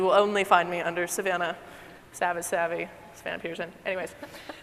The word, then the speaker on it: Savannah: thing I will say my name is Savannah like Georgia like the African grasslands not to be confused with Samantha as many folks do all the time story of my life